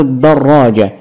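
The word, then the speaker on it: دراجة: بالفتح الصوره الثانيه صوره دراجه انطق واعرف مكان الشده دررا دراجه احسنت حرف الراء هو المشدد طيب مشدد بالفتح ولا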